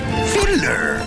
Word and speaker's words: sand: It's spelled sand, but it's pronounced fiddler.